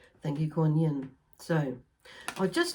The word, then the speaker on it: Kuan Yin: Okay, so like Kuan Yin, sometimes it's pronounced G-U-A-N, instead of Kuan Yin. Some say Kuan Yin, so it's like just depending on which part of Asia you relate to her as being.